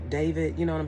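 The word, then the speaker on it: D4vd: I've seen it before because his name is spelled funny. It's D 4 V I D David, you know what I'm saying?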